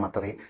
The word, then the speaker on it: Materee: mereknya ini adalah materi tulisannya matate r e e ya matere Tapi bahasanya materi jadi kayak misalnya tulisan SH ya tulisannya juga shope kita bacanya shopee nah ini sama ini materi sebenarnya materi Ini